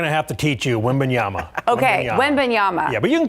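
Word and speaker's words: Wembanyama: so we're going to have to teach you women Yama okayama yeah but you can call him wimby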